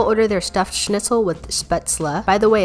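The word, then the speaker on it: Spätzle: their stuffed schnitzel with sputzler by the way i've always heard it pronounced spatzle but then i just googled it and found a bunch of videos with how i pronounced it the first time so another thing i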